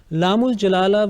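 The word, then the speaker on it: لام الجلالة: Laamul Jalala will be pronounced with thick sound, with full mouth, when it is preceded by a letter having fatha or dhamma.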